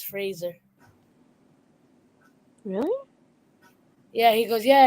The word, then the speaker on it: Fraser: hear what I'm saying Fraser instead of Frasier because he's actually been correcting people say say yeah it's not Frasier it's Fraser really yeah he goes